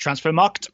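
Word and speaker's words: Transfermarkt: Okay, first of all, it's pronounced transfer marked. Mm-hmm. There's no second D, right?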